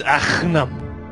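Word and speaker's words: Agahnim: No, it's Aghanim. Yeah, you gotta hawk a loogie while pronouncing it.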